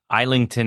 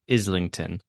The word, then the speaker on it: Islington: have to just say it's isington is pronounced Islington H that's the that's the